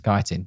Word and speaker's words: chitin: recent episodes about the the pronunciation of chitin or kytin or however you pronounce it that's what we've been rolling with uh everyone has been commenting it is kytin it's kaitin yeah fine you heard it